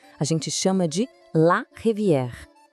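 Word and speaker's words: rivière: E as águas que vão cortando toda essa paisagem, a gente chama de la revier. Percebe aquele erre bem francês que vem lá do fundo da garganta?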